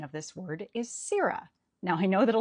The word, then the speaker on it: sirrah: They say sarra. But Shakespeare's verse itself tells us that the emphasis falls on the first syllable. The standard American pronunciation of this word is Sira.